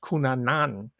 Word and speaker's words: Cunanan: In truth, it's pronounced Cunanan.